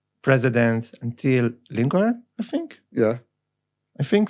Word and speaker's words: Lincoln: that Israelis will pronounce the letters that aren't supposed to be pronounced. Like the L in Lincoln.